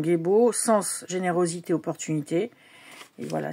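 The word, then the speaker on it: Gebo: alors, la rune Gébo. Oui, c'est sa prononciation Gébo.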